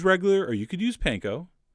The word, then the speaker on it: panko: or you could use panko and by the way that's exactly how you're supposed to pronounce it and then unless you